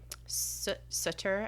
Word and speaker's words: Sutter: Sutter, I think is how you pronounce it. It's Sooter, who was a normal teenager and was like probably rebelling a little bit.